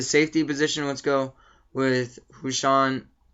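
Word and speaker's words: Husain Abdullah: b and the safety position let's go with hushan how do you how do you say it Nick I know you could say it right Hussein Abdullah Hussein Abdullah with an Eric Barry Hussein Abdullah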